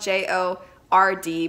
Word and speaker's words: Jord: This came from the company Jord. It's spelled J-O-R-D, but it's pronounced Jord like toad.